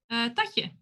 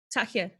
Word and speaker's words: Tatje: No, it can't- Tatya? no copyrighted music. Is that how it's pronounced? Tatya? The like, gender neutral? Tatje? Tatje. Tatje. Tatje. Right. So like a soft J.